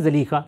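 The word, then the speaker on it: Zulaikha: We say 'Zulekha' among us. Yes, i.e. what is the real pronunciation? 'Zalikha', however, among us, people usually say 'Zulekha' .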